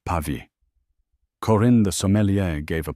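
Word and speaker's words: Pavie: "A Bordeaux, perhaps the uh chateau pve." He horribly mispronounced Pavi.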